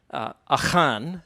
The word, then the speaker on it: Achan: So my presentation is titled Chosen One or Traitor, Jonah, Achan, that's how you say his name in Hebrew, and not Achan, Achan, and narrative analogy in the Hebrew Bible.